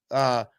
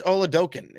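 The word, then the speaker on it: Oladokun: Chris Oladokin is how you say his name.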